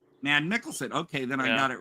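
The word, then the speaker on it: Mads Mikkelsen: Um, now I I never get I never pronounce the name right. It's Mads Mads Mickelson. Mad Mickelson.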